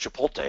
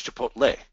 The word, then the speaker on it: Chipotle: always heard it pronounced Chipotle and I never looked at it that close and it's Chipotle it's TL not LT I never even looked